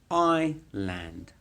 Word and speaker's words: island: island an island not island we don't the pronunciation is not island or iceland it's i land island island and then in the center of